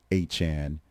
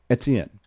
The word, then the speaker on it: Etienne: of an explanation of how we got to Etienne from Etienne in the first place.